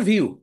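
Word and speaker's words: Vue: একটা ফ্রেমওয়ার্ক হচ্ছে ভিউ এটার বানান হচ্ছে ভিইউ এটার উচ্চারণ হচ্ছে ভিউ ভিউজেস রিক্টজেস ভিউজেস ঠিক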